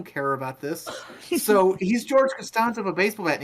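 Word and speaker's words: Costanza: still don't know exactly who George castan it's pronounced castanza Shima Shima you have to put George castanza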